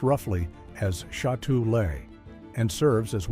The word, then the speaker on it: Châtelet: the piece was titled After Châtelet, which is pronounced roughly as Chattoolay, and serves as one of the major transit hubs in central Paris.